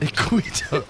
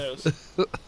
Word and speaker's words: Iquitos: So the city that you're going to, and I'm gonna mispronounce it. Cleveland. Iquitos.